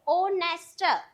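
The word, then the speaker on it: honest: क्योंकि ऑनेस्ट को हम बोल बोलने से इसमें एच जो है वो साइलेंट होता है। तो हम बोलते कैसे हैं? ओ ऑनेस्ट इसलिए यहां पर एन आया।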